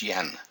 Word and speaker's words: Jan: water my name is Yen it's spelled Jan but pronounced Yen I am an immigrant